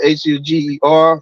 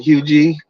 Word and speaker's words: Huger: Hui street it's it's pronounced hug but it's it's spelled h u g e r some I used to say Huger but they pronounce it hugi so when you when you hear it it